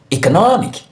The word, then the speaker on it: economic: The correct option is A, economic, economic, economic, economic. So you have the stress syllable in the syllable before the IC.